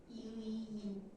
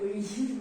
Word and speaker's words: 의인: 이위인. 발음이 우이우이인이 뭐예요? 의인.